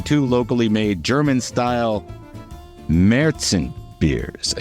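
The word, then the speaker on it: Märzen: f Now featuring two locally made German style meron beers I said it right they have the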